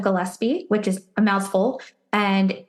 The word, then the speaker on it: Gillespie: And I'm also on LinkedIn, Gillespie, which is a mouthful. And I'll spell it out because it's not quite the normal name.